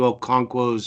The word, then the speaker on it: Okonkwo: I think it's pronounced Okonkwo. Yeah. I apologize to Okonkwo's family for not properly pronouncing it if I'm screwing that up. I would have pronounced it correctly, but that is only because I looked up the pronunciation literally about 2 hours ago. And what is it? What is it? Okonkwo.